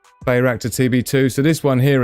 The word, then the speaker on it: Bayraktar: Bayraktar. I wasn't pronouncing it right. Bayraktar TB2.